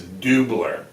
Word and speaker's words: Doobler: pronunciation for this because last week i called sudz doobler the wrong pronunciation it is doobler so there i apologize